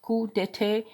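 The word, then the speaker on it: coup d'état: A coup d'etat, pronounced coup d'etat, or simply a coup, is a sudden overthrow.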